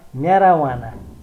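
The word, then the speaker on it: marijuana: अब जे को उच्चारण नहुने दुईटा शब्द एमएआरआईजेयुएएनए, यसको उच्चारण म्याराना, एमएआरआईजेयुएएनए म्याराना, यसको गाँजा एमएआरआईजेयुएएनए म्याराना।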